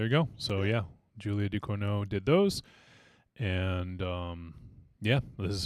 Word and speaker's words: Ducournau: Is that how you pronounce it? Yeah. Julia Ducournau.